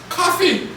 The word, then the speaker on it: Kofi: In Ghana, a male child born on a Friday is named Kofi. Uhhuh. And in Gichi, a male child born on a Friday, the pronunciation given was coffee.